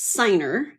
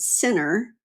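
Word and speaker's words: Siner: It's seri ner. But a lot of times people would pronounce it sinner. Why? I don't know. cuz that would mean two ends.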